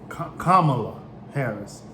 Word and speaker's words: Kamala Harris: wrong and i apologize it's kamala harris forgive me and it was it